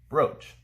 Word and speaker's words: broach: use for this is simple brooch to pronounce it bro brooch raise a sensitive or